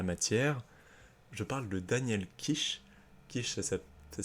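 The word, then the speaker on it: Kish: expert en la matière je parle de Daniel kich kich ça ça s'écrit K i s h si tu veux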